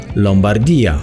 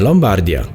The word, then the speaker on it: Lombardia: miasto i najbliższe okolice zachęcamy doan wymowy nazwy regionu Lombardia a nie Lombardia a warto mówić właśnie tak Jeśli chcecie zyskać przyjaciół wśród miejscowych nazwa Lombardia wywodzi się